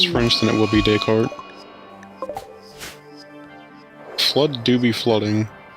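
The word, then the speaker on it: Descartes: Descriely changed the A to an O and then added an A after the R and said Socrates by said daycart.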